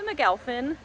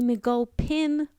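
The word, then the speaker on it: McGulpin: and now we are going to tour the mcgowfin lighthouse the mcgull pin point lighthouse yes i did mispronounce it in that last clip is approximately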